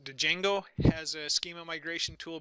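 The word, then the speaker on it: Django: you're a Python programmer I believe you pronounce it - jingle has a schema migration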